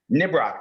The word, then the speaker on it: Nibroc: Arlene Hutton is best known for her plays Last Train to, is it pronounced Nibrock? Brock. Nibrock, thank you.